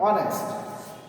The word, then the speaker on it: honest: takes n there are some other things suppose honest begins with the consonant but here is silent so we pronounce the word from the vowel sound honest so it also takes a similar word